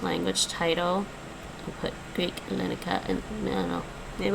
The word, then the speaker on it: Ελληνικά: Ελληνικά. Ελληνικά. The stress is on the end.